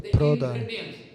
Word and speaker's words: Pradhan: Pradhan e Prakriti, que em Bengali se pronuncia Pradhan.